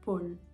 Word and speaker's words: pôle: très fermé par exemple le mot dôme d o accent circonflexe me devrait être prononcé très fermée un dôme ou alors un pôle très fermé ça je l'ai pas